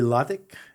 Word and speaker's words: Latik: got a guest with me this morning Yuri ltic did I pronounced that right your last name did you